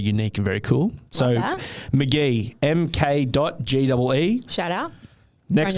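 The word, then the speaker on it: Mk.gee: first one is uh McGee but it's spelled mk. gwe he's a um guitarist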